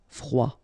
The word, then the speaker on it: froid: Final D not pronounced. Froid.